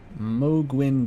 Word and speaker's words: Mohg: There was a very funny Germa edit, of Mohg as like a Twitch streamer. I think within the Germa canon it's pronounced Mohg, I pronounce it Mohg usually.